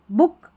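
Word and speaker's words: book: उक बुक कुक लुक short है double O है ना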